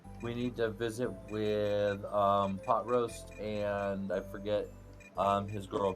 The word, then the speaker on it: Pot Roast: And Mercenary A, which is, of course, Pot Roast. I always, as a kid, mispronounced his name as Pot Roust. Because R-O-W. Well, I mean, that's what it looks like, but...